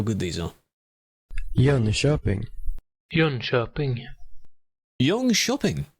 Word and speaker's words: Jönköping: Jönköping. Jönköping. Jönköping. Ah, so it's a sh. Is that good? Jonkoping. No. Jonkoping. That's AI. Jönköping.